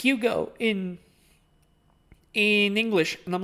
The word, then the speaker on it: Hugo: like, "Oh, your name is your name isn't pronounced Hugo in in English." And I'm like, "Yes, it is." Yeah, it is. What do you mean it's not? No, your name is pronounced huge.